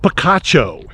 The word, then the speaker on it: Picacho: welcome to Pikachu Pik I know that's not the way you pronounce it I asked the ranger it's what is it Picacho it is Picacho but we've been saying